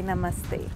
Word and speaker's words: namaste: In Hindu tradition, we say namaste.